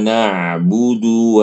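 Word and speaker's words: نَعْبُدُ: Tinggal ibu ketika baca budu, effort monyongnya harus lebih lebih berlebih. Maksudnya monyongnya itu harus diperhatikan.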